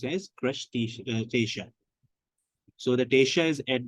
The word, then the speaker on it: crustacean: on the crab Lobster and shrimps and it's pronounced as crushed station so that Asia is at the end and